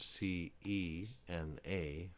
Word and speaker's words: cena: If you had the word C-E-N-A, that's pronounced cena. So you can see, whenever a C is followed directly by an I or an E, it sounds like the CH in chip. However, when you have a